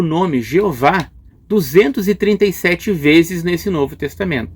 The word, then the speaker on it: Jeová: Agora, que dizer da pronúncia do nome Jeová? Será que ela está muito errada ou se aproxima da pronúncia original? Bom, muitos eruditos reconhecem que o termo Yahvé é um termo mais correto do que Jeová.